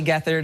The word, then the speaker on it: Gethard: Yeah, it's pretty, having your last name spelled Gethard is pretty bad. I mean, this is morning TV. No, it's spelled, well, it's Chris. We should say it's Chris, G-E-T-H-A-R-D. Yeah, and it's like the word.